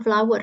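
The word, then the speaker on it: flour: is B of flow ini bacanya flower ya untuk tepung FL ya cara bacanya sama seperti bunga there is a back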